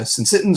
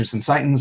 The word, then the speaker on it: syncytin: These are the syncytins or syncytins. I've heard it pronounced both ways.